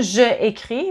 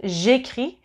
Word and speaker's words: j'écris: So no je écris, but j'écris. When there's 2 e's in a row, you don't say both of the e's, you just use an apostrophe in that case.